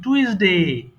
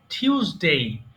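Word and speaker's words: Tuesday: আমরা বেশিরভাগ কি বলি টুইসডে টুইসডে হবে না কিন্তু হবে টিউসডে সবাই লক্ষ্য করো টিউস ডে টিউস ডে এরপরে ওয়েডনেস ডে বলি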